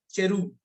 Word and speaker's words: cherub: करूब, इंग्लिश में बोलते हैं चेरूब, CHERUB।